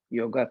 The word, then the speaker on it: yog: philosophy, it becomes a yoga therapy or called integrative medicine, a 21st century medicine. The word yoga is the anglicized version of the root Sanskrit word called yog.